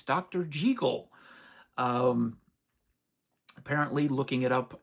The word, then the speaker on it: Jekyll: Jackal. It's Dr. Jagel.